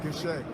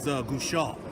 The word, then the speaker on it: Goucher: It's pronounced Goucher. Goucher. Yeah. All right, because people were slaughtering me to my some is Gouchard. No, it's Goucher.